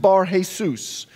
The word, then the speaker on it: Bar-Jesus: Now in Greek it's pronounced Bar-Jesus, Bar meaning son.